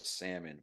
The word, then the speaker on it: salmon: found out that she pronounced the word salmon with the L.